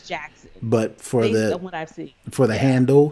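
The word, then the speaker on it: Jaxn: a lot of people i was pronouncing it when i saw it jay excellent jay exin no it's like maybe his real name is derek jackson spelled regular but he is jackson but for for the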